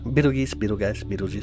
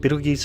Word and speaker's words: Betelgeuse: Pronounced Betelgeuse, Beetlejuice, Cinco Finium. Betelgeuse and Betelgeuse is the two most common terms.